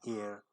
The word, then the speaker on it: heir: When the next word begins with the letter H, we use a if the H is pronounced and an if the H is silent.